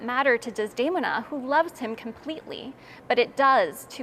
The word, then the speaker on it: Desdemona: When the opera begins, Desdemona, and here I'll switch to the Italian pronunciation, Desdemona. Desdemona has spurned Iago, who marries Emilia.